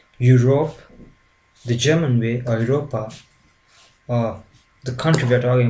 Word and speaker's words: Europa: A and U always takes a sound oi. For example, Europe, the German way, or Europa, or the country we're talking about, Germany.